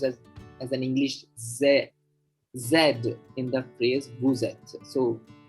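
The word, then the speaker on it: c'est: a say this word c e s t in french see apostrophe s t is pronounced as simply say okay or the plural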